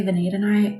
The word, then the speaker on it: vanadinite: I think some people say vanadinite, but I really think it's vanadinite. Sometimes in the crystal world, you'll hear people say things a little bit differently. But to me, vanadinite makes more sense with the way it's spelled.